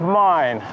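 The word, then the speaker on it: 美祢: There is a mine in a city of Mine, which is, if you pronounce it English way, it's a mine, and it's written exactly the same, but it's Mine in Japanese.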